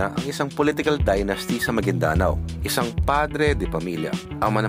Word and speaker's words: Maguindanao: e kay kay goob hindi pala magindanao an magindanao yun pa ang tamang pronunciation go Ah magindanao yun